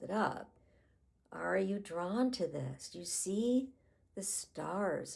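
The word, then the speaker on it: Thoth: So that's the image of Toth. It's it's spelled T h o t h.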